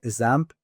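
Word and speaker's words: XAMPP: Uh the it's called ZAMP. Uh it's X amP. It starts with an X but is pronounced ZAMP.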